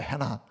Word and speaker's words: Hannah: 난 글쎄 해나가 도대체 왜 해나라고 붙였나 몰랐더니 한나의 영어식 발음이 해나예요. 해나.